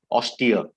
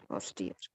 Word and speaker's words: austere: right and yes so this particular word ausdre should be pronounced as austere yes austere what is the meaning